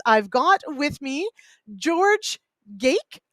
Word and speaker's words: Gaeke: I've got with me George Gaeke. Rhymes with cake, George tells me.